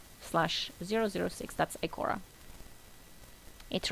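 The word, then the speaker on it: Ikora: regrets i k o zero zero six that's icora it rhymes it's like poetry exactly absolutely as said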